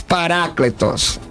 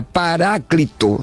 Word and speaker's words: paracletos: simone rodrigues paracletus paracletus alguns que tem uma pronúncia e o tinta paráclito né de viver para cristo se me falha a memória se não me falha a memória nem me ver ih coloca nessa tradução paráclito mas eu uso a pronúncia erasmiana não é de cambridge cambridge